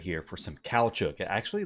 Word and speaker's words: caoutchouc: farm layouts right here this is for the cow Chuck Plantation and that is how you pronounce that if you weren't familiar with that word it is a cow Chuck or rubber it's it's just rubber that's all